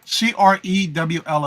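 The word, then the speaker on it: crewel: Yep, Crewl is how it's pronounced.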